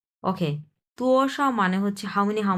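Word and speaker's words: 多少: এক number ton. Sao neutral ton.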